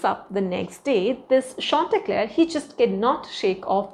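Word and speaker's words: Chauntecleer: and his name is shant Clair that's the pronunciation okay shant Clair now shant Clair is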